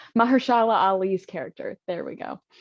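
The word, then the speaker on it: Mahershala Ali: is found um by mahali sorry the I'm gonna say it right Mahala Ali's character there we go I put his first name and his last name together um Juan is his name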